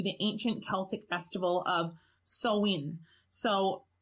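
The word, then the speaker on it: Samhain: dates back to the ancient Celtic Festival of soin so it's actually spelled if you look it up it's spelled sa ma che I n so a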